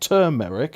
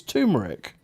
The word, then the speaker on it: turmeric: put turmeric that's it it's not turmeric it's turmeric no everyone spell it